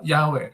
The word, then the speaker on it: Yahweh: Sama tadi yang pronunciation-nya YHWH itu di pronunciation-nya Yahweh.